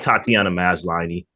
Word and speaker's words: Tatiana Maslany: Some people say, it's kind of dumb, but I'm like, I like Tatiana Maslany.